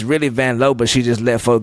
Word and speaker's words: Vanloo: Do you love Julie Van Low? Cuz that's how you say it. Sure. Julie Vanlow is my least favorite. She said, "Wait, hang on. It's Vanlow.